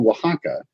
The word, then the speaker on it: Wahaca: is great right and the restaurant is called Waka yeah and that's a that's a Mexican state but the Mexican state is O AXA uh but yours is spelled how so yeah for Less confusion because in London something begin with it would just be so you wouldn't go waka so it would be really confusing so we spelled it